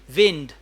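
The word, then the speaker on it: wind: क्या हो जाएगा विंड यह विंड है जिसको अक्सर लोग वाइंड भी प्रोनाउंस करते हैं वो वाइंड दूसरा होता है वाइंड अच्छा स्पेलिंग यही है जो चाबी देना होता है उसको वाइंड कहते हैं स्पेलिंग यही होंगे और हवा वाले को कहते हैं विंड ले जी चार क्वेश्चंस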